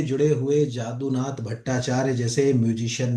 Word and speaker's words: यदुनाथ: के गुरु थे वो, जादूनाथ भट्टाचार्य। ठीक है, उनको यदुनाथ भट्टाचार्य भी कहते हैं, क्योंकि आप बांग्ला में पढ़ोगे तो यदु प्रोनाउंस होगा, नॉर्मली पढ़ोगे तो जादू, जो है जैसे जादूनाथ